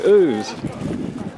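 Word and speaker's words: Ouse: up and here is the river whose and I bet I'm the only gang around here knows how to pronounce it properly there's the Harvey's brewery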